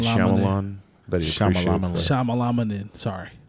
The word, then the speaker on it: Shyamalan: was great let's see I never say his name right that's why I just say Shamma Lamma night Shyamalan but Shamma Lamma in